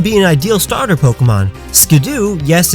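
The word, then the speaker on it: Skiddo: line it could be an ideal starter Pokemon skidoo yes it's pronounced skidoo apparently as the former head of the dub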